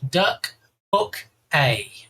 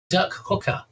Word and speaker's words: Duck Hook A: Okay, it's because you hook ducks, so it's like hook a duck, just in a different order. Okay, it's not pronounced duck hooker, all right, because that